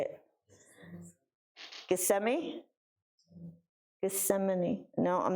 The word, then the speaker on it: Gethsemane: Gethsemane?